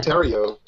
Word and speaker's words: Terrio: Yeah, but it's Terrio. Yeah. I think it's kind of cool you actually use the French pronunciation because a lot of